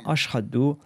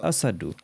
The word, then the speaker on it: Ashhadu: Étant abyssinien, il ne prononçait pas la lettre H en arabe dans Ashhadu et il disait Asadu.